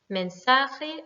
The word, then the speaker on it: mensaje: Mensaje, là c'était l'avant-dernière puisqu'on a un E qui est une voyelle.